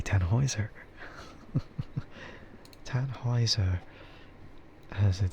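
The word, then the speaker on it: Tannhäuser: And so that's why I kind of thought Tanhouser, but it's not really how you pronounce Tanhouser, is it? So then I had to like reconsider. It's like it has to be Tanheiser.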